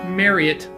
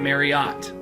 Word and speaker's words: Marriott: so by the way side note it is pronounced mariette not Marriott the guy himself mr.